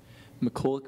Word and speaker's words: McCulloch: McCulloch versus Maryland. Did he pronounce that correctly? Yes. We'll go 4 points for Bentonville. McCulloch.